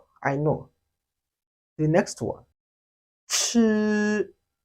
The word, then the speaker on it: 吃: This sound is also very simple if only you know how to pronounce the j sound, if you can differentiate them. While making this sound, there is always a little airflow. It has the same sound with the English word ch, chef, chef, ch, chef, exactly like an English word.